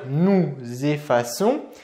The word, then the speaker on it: effaçons: En effet, on ne va pas dire ici nous effaçons, on va bien dire nous effaçons, mais pour signifier que ici la lettre C doit se prononcer comme le son S, eh bien il